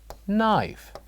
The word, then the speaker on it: knife: knife knife very good so when we say this is knife what do you think the silent letter is is it g g h k or H excellent the silent letter here is K Circle this letter Circle